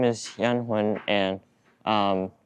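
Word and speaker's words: Danh Huynh: So, what is your first and last name and how do you spell it? My name is Yan Hen and um it's D A N H and H U Y N H.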